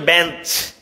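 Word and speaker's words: bench: কিভাবে হয়েছে দেখো তো এখানে বলছে বেঞ্চ এখানে সিএচ এর উচ্চারণ কিন্তু চ এর মতই হয়েছে বেঞ্চ চ এর মত হয়েছে কিন্তু এখানে মনার্ক সিএইচ এর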